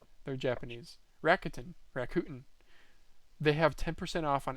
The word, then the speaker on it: Rakuten: Sorry, how is it pronounced? Rakuten, apparently. Rakuten. Yep. Daz looked up the actual pronunciation. They're Japanese. Rakuten.